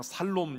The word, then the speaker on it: 샬롬: 볼까요 어른들은 좀 어려우시니 샬 발음이 잘 안 되니까 그냥 살롬 이렇게 하셔도 돼요 그게 그거예요 사실 이런 평화는 우리가